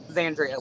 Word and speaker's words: Xandria: I've literally got real quick, is it Xandria? Xandria, like Xanax.